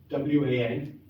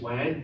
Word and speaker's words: wan: So the word is wan, W-A-N. It looks like we should pronounce it wan to rhyme with man, but we don't in English, it's just wan.